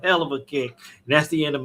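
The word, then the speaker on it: Helluva Kick: It's not pronounced as hell of a huluva kick. It's supposed to be as a hell of a kick.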